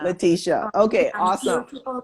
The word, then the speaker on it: Letitia: because there are a couple of ways to pronounce your name so which which way do you prefer latisha latisha okay awesome people call me latisha or you